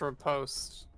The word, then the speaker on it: riposte: the second syllable is post. Lee post. I think it's. Riposte?